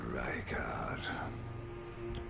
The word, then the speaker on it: Rykard: Traitor Rykard. Rykard.